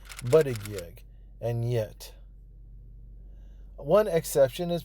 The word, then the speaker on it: Buttigieg: America has had a year to learn how to say Buttigieg, and yet. One exception is President Trump, who has used the name to taunt the mayor at rallies. Boot Ed Jedge. Boot Edge Edge.